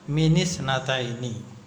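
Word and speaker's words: مِنِ اثْنَتَيْنِ: Maka ini diakarati dengan kasrah mini kan itu minisnataini nun sukun hamzah wasal itu asalnya sukunnya sukun kalau sukun semua enggak bisa dibaca maka dibantu dengan kasrah maka bacanya minisnataini jadi apa saja yang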